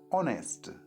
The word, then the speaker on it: honest: ना, तो ऑनेस्ट है, एच साइलेंट होता है, ऑनेस्ट, तो वहाँ पर भी एन लगेगा।